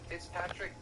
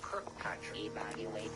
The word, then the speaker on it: Kirkpatrick: So right off the bat, I will say that Senator Gillibrand was pronouncing the Director of Aero's name incorrectly as Fitzpatrick. It's actually Dr. Kirkpatrick.